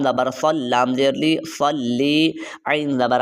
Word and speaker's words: صلی: خیال رکھنا ہے۔ اللہم صلی علی، یہ دیکھیں صاد ہے، سین یا فا نہیں پڑھنا، صلی علی، صلی علی، صاد لام زبر صل، لام زیر لی، صلی، عین زبر ع، لام